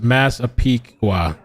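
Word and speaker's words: Massapequa: Okay, Jackie says it's pronounced Masapiqua.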